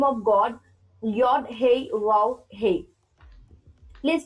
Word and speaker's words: Yod Hey Vav Hey: Name of God, Yod Hey Vav Hey. Please pronounce this for me, Charles, please. Yeah, Yod Hey, Vav Hey.